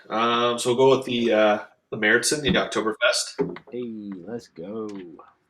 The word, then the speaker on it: Märzen: Like you're saying Märzen, Marzen, with the two things over the A. That's how you say it? Yeah, Märzen.